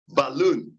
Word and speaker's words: balloon: given stress not Doctrine balloon not a balloon a balloon not a balloon the final syllable of the word balloon takes rise because the ultimate's